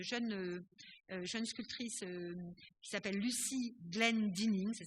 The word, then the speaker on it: Glendinning: Ici, c'est une sculpture d'une jeune sculptrice qui s'appelle Lucy Glendinning, ça s'écrit G-L-E-N-D-I-2-N-I-N-G, Glendinning, et c'est un Feather Child, donc un enfant avec des plumes.